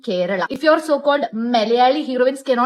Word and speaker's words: Kerala: It's not Malayalam or Kerala. It's Malayalam and Kerala.